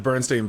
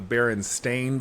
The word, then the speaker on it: Berenstain: The Bernstein Bears. How it's spelled, right? Yeah, it's actually spelled the Berenstain Bears, but people think it's the Bernstein Bears, Stein, and it's not. It's Stain.